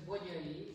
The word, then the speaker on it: Bogyay: Because Bogyay is a very Hungarian name, and we have this sound Gy, it's like the Magyars, who we are, the Magyar people.